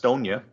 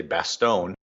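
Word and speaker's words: Bastogne: now from Normandy mhm let's go to Bonia or as a lot of Americans say Bastone in Belgium which was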